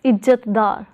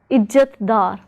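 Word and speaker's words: इज़्ज़तदार: When dar is joined to stem ijjat, we pronounce the word as ijjatdar. So we first pronounce ijjat, then dar as ijjatdar, ijjatdar.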